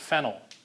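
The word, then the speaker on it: phenyl: end with Y so we end up calling it fennel not to be confused used with phenol okay phenol is spelled with the y l it's referring to an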